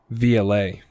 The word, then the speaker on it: Violette: my last name uh it's technically if you guys didn't know this it's vla that's how you say it in french vlad that